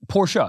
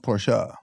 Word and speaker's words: Porsche: Porsche well I say Porsche what is it Porsha that's how you pronounce it porsa Porsha and she goes yeah and she goes